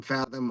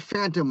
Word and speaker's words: Phathom: But yeah, it's I am Fathom on literally every social platform there is. Uh, I am M P H A T H O M. There is no N in the name.